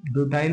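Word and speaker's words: butyl: तो उसके बाद उसमें ब्यूटाइल बोले या ब्यूटिल बोले, आप ब्यूटिल भी बोल सकते हैं, प्रोनाउंसिएशन पे डिपेंड करता है।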